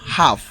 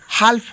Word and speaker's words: half: যেমন দেখো হাফ, HALF, হাফ, এখানে এল লেখা আছে কিন্তু এর উচ্চারণটা হালফ হয় না, হয় হাফ।